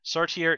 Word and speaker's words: Sartre: And just let me say right now that Sartre is considered an acceptable way to pronounce his name for English speakers.